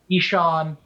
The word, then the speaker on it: Ishan: with you yeah it's think of the eye as a long e and it's ishan uh last name is